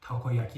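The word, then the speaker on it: たこ焼き: بذارید امتحان کنیم این کلمه رو شما چطوری تلفظ می‌کنید درستش تاکایاکی هستش و یا این یکی درستش اونی‌گیری هستش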